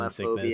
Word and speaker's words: thalassophobia: Don't have Try not to get motion thalassophobia sickness.